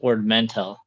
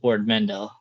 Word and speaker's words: Ord Mantell: He at the beginning of it he pronounces it Ord Mantell, which is the Empire Strikes Back version. But then at the end of the episode, it goes Ord Mantell, which is a more familiar for a lot